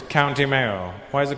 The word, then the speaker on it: Mayo: Like mayonnaise? But just without the nays. It's County Mayo.